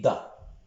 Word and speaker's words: ض: On dit ça, et ici on dit da. Hein? S'il y a un point, on dit da. S'il n'y a pas de point, on dit ça.